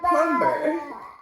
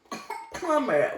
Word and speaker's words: plumber: My husband was like, PlumBer. It's for plumber. We say, Americans say plumber. He said PlumBer. Look, what's the spelling? Plumber. So where is the B? It's silent. Silent.